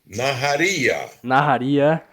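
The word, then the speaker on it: נהריה: A cidade eu não sei a pronúncia direito, Fábio. Você pode me ajudar? É Naharia. Naharia lá de Israel.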